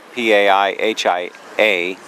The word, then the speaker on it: Paihia: You're looking at a fountain just across from the main commercial district in Paihia, and that shows you how it's spelled, P-A-I-H-I-A.